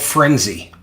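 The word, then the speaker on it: Phrenze: replaced it is called frenzy spelled with a pH um and a z p-h-r-e-n-z-e uh frenzy is worse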